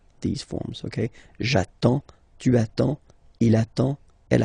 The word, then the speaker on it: attends: J'attends. Okay? You get D and S. Well, basically you don't pronounce them. Okay? And then you get only the sound attends. Nasal here. En.